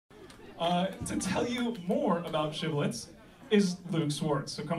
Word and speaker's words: shibboleth: Then said now unto him, say now shibboleth, and he said sibboleth, for he could not frame to pronounce it right.